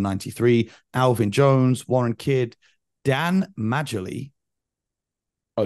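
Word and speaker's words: Dan Majerle: far born in 93 Alvin Jones Warren kid Dan Melly oh Dan Marley is that how you say it yeah from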